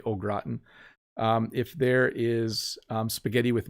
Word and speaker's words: au gratin: Like if there's potatoes au gratin, I know, sorry, French people, we don't say au gratin, we say au gratin.